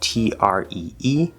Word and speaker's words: tree: the word tree so it's spelled t-r-e-e but it's actually pronounced c-h-r-e-e tree and then lastly